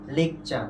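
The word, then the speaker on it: lecture: এরপরে দেখো আমরা উচ্চারণ করি কি, লেকচার, কিন্তু এটা কি হবে, সঠিক উচ্চারণটা কি হবে বলতো, লেকচার।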